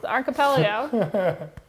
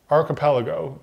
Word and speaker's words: archipelago: was talking about okay archipelago is a how you're supposed to pronounce I added one syllable okay I was pretty